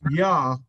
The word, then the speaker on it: Yah: spelled y a a it's spelled y a uh j a h but it's pronounced yah is means a shortened